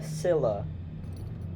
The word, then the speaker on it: Scylla: So it is the Scylla. That is the correct pronunciation.